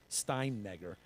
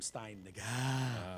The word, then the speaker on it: Steinegger: The local mayor, Franz Steinegger, I call him Steinegger. With the It's- H. yeah, and I put the AH on the end of it, so it's Steinegger. That's how I pronounce his name.